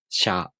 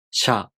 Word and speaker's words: しゃ: For example, しゃ, しゅ, しょ, these are pronounced with the [ɕ] sound, not the [s] sound, plus [a], [ɯ], [o].